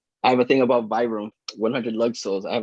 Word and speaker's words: Vibram: And then I got it with the 100 lug Vibram. I don't know how you pronounce that. Yeah. Yeah, I say Vibram. Apparently the correct pronunciation is Vibram, but Vibram.